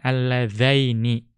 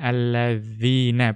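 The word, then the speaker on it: اللذين: Ya, karena huruf dzalnya kan alladzaini, bukan alladzina bacanya ya, tapi alladzaini.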